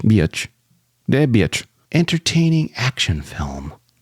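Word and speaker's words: Biech: It's spelled D-E-B, Deb, and B-I-E-C-H, Beach.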